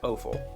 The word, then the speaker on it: offal: I grew up learning that word as awful, like A-W, but not spelled the same.